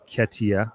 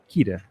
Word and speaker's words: Ketia: Says the article in the Jamaican Observer, National Chief Takia Day, and it's Ketia, rhymes with Rita. Kita.